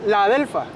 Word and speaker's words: Ladelfa: Es Ladelfa. Sí. Ladelfa. Lo pronunciaste perfecto.